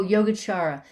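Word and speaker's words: Yogācāra: what was this oh yoga chara uh spill just like you did a y-o-g-a-c-no h-a-r-a-y-a yoga chara so is the c is pronounced like a ch and the the two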